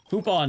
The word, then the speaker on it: Poupon: Is that how you pronounce that? Poupon's a cursed name, by the way. Open probably makes more sense. Poupon does not sound like good food.